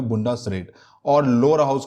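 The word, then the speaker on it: Bundesrat: Upper house का नाम है बुंडसरेट, ये थोड़ा हार्ड है प्रोनाउंसिएशन में, इसका नाम है बुंडसरेट।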